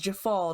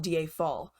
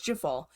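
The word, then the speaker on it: Djeffal: And by the way, I learned it was Jafal, not Diafal. I was pronouncing the J as the Y, like it usually is in some European countries. He's from France, so I thought maybe it would be Diafal, but it's Jafal.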